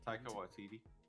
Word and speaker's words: Taika Waititi: Taika Waititi. Taika Waititi.